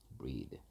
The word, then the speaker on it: breath: 그 ea의 발음도 달라진다는 거 이때는 에 발음이고요. 뭐 발음 기호로 하면 breath고요. 얘는 breathe 여기 있죠. E 발음 breathe. EA의 발음이 달라진다.